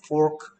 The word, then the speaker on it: fork: 그래서 F하고 P 발음은 다르게 소리 내는 방법만 알면 됩니다. Fork, pork.